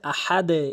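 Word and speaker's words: أحد: যেমন এখানে দাল রয়েছে আহাদ। এইযে নিচের দিকে। আহাদ আহাদ। উপরের দিকে নয় আহাদ নিচের দিকে।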